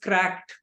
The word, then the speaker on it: Crack-ED: it in brief uh the name of the brand is pronounced as cracked uh it's an expression